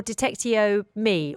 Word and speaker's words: Detectiome: Is it Detectiome or Detectiome? Or have I got the whole pronunciation incorrect?